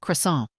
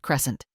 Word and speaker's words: croissant: It's pronounced croissant, not crescent."